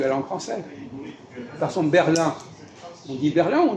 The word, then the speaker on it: Berlin: On détruit la langue française si on prononce Ahmed. C'est pas la règle de la langue française. Par exemple, Berlin. On dit Berlin ou on dit Berlin en français? Berlin. Quoi? Berlin. Pourquoi on dit Berlin et pas Berlin?